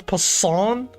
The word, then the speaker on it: Poisson: So it's the same energy as croissant then.